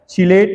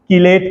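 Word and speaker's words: chelate: उसके बाद ये क्वेश्चन पूछा जाता है चिलेट लिगेंड, वैसे हम इसका प्रोनाउंसिएशन किलेट करते हैं, किलेट याद रखने के लिए कह सकते हो चिलेट लिगेंड।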